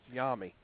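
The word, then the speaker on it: Jaime: His first name is pronounced Yami.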